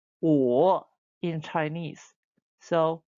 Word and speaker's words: 我: 我 Good.